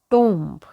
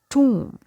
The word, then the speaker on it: tomb: It's not tomb. So here letter O doesn't have O sound and letter B is silent. So the correct pronunciation of this word is tomb. Tomb.